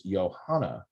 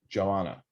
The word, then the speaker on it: Johanna: And like, for example, one of the things that I try to make sure is that everybody pronounces Johanna, not Joanna.